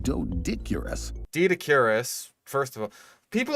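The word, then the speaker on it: Doedicurus: So, um usually when you see like um consonant oe like this, it's like it's a hard e sound.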